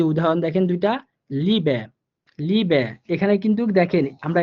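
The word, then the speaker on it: Liebe: ই এর রুলস আমরা কি পড়ছিলাম, যে ইটা যদি আমরা কোনো শব্দের শেষে পেয়ে থাকি তখন শুদ্ধ বা সুন্দর উচ্চারণের জন্য আমরা ইটাকে একটু হালকা এর মতো করে উচ্চারণ করব।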